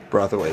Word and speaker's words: Brathwaite: Have I been saying it wrong this whole time? Yeah, Philo Brathwaite. No way. Wow, my whole life is a lie. Me and a lot of other people saying Brathwaite and offending him. Yeah, I mean, like phonetically, Australians are known for pronouncing things as they're spelled, as you know.